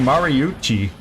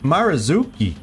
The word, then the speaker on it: Marazuki: and Mar Mara's I I keep saying maruchi it's Mari marzuki I've been saying his name wrong the whole time somebody